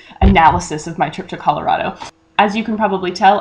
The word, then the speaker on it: Colorado: As you can probably tell, I did not in fact train myself to pronounce it ColorADo instead of Colorado. I'm still not entirely convinced that I need to, seeing as my grandfather, who grew up in Grand County, Colorado, pronounces it Colorado, not Colorado, but to be honest,